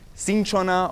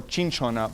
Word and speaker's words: cinchona: and so sometimes and in Spanish it's referred to referred to as cinchona or chin shawna but also kina any